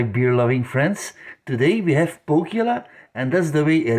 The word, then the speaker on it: Pohjala: Today we have Pohjala, and that's the way it is pronounced. I am 100% sure because I watched a YouTube video and the guy from the brewery did say Pohjala, so I know it's Pohjala pronounced.